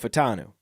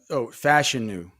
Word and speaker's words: Fashanu: We were talking about Fashanu, and now you're talking about Fatanu. No, Fashanu. Okay, so let's talk about some pronunciations of this year. Fashanu, Olu Fashanu. He told us it's like fashion with the U.